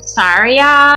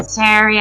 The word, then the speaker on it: Saria: castle gardens he spotted syria zarya how'd you pronounce that saria so yeah seria i i i intentionally pronounce things wrong because